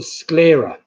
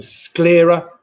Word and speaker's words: sclera: That's called the sclera, which rhymes with the old Italian currency, the lira. So sclera and lira.